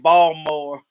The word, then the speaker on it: Baltimore: look the sugar daddy saying ball more you better not pronounce that t this this is how